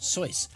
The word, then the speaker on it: Seuss: was his middle name it's actually pronounced soyce Theodore soy geisen really